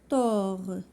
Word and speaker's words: tort: le verbe gaspilleur or tort bord d'or هادو كلهم d'or T ne se prononce pas D ne se prononce pas T ne se prononce pas tort bord d'or.